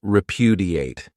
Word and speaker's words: repudiate: Another great verb is repudiate. This verb has four syllables and the stress is on that second syllable.